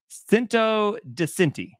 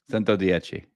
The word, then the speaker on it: Cento Dieci: It's the Bugatti Cinto di Cinti. Nope, no ends. Are they right? Cinto di C. Nope. So, your turn. Cento Dieci. Dieci. Ah. Yeah.